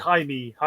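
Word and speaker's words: Jaime: accurate of it today I would say Jamie ryz but it's not it's hay ha Reyes oh i' said Jamie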